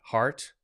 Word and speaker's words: heart: we should say is e-a-r-t in this case makes the art sound yeah that is the short a sound plus r plus t right okay so what rhymes with that heart fart okay so heart and fart rhyme so what you have